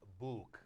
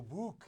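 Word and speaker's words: Bouc: I pronounce it Book. Oh, Book, yes, Book.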